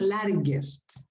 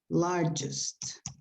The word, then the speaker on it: largest: of pronunciation okay uh the word largest is not larry gust the pronunciation is largest largest okay okay um well the